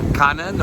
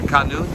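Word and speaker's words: Khanun: But Typhoon Kanan, or Kanun, depending how you pronounce it, has now basically battered Okinawa, heading towards China.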